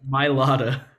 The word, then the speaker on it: Mailata: Mailata. Mailata, okay. I always forget. I forget where the like H, like the ha sound is.